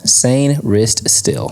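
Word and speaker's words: Sainristil: that you duck that how do you pronounce that s stil where Mike srel S Sr Sr s San s still sane wrist still sane wrist still perfect I love it CB out of Michigan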